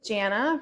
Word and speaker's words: Jana: So again, Jana rhymes with banana.